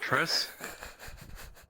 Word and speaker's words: Triss: Reese. Isn't it Triss? Yes.